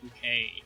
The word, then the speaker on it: Bucket: And so, like, her last name was Bucket, but she'd always be like, it's pronounced Bouquet.